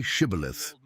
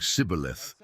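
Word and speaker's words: shibboleth: The Ephromites pronounced it differently, saying cibilith, and their speech exposed them.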